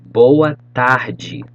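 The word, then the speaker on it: boa tarde: mornings bonji you say with me bon gia boa tagi let's go one more time check the pronunciation try to say like i'm saying okay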